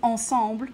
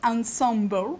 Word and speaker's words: ensemble: a word of apology I insist on pronouncing Ensemble and not Ensemble because I think it sounds terrible in the English way and frankly it's a French word why why wouldn't it in English anyway um